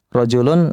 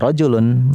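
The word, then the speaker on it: رَجُلٌ: Jadi kapan kita baca rajul ya, kapan kita baca rijlun, rojulun seorang laki-laki. Rijlun kaki. Lihat-lihat konteks kalimatnya lagi bahas apa ini? Lagi bahas orang ya, rojulun, lagi bahas anggota badan rijlun.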